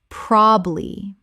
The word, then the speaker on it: probably: Probably. 2 syllables in natural speech. The middle syllable is almost always dropped.